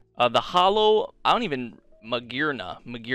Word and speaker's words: Magearna: And we got the Holo, I don't even, Magearna, yeah, that's how you say it.